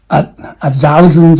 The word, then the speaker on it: thousands: This is how the first syllable of this word is how, th sound, the ow going up, thou, and with the s change it into z. Okay, so thousands of soldiers here.